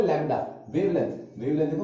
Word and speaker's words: lambda: इसका सिंबल है लैम्डा, wavelength, wavelength देखो मैं आराम से बोलता हूं, वेवलेंथ, वेवलेंथ, इसका सिंबल है लैम्डा, लैम्डा को LAMBDA, लैम्डा, इसमें D साइलेंट है, LAMDA, ऐसे करके लिखते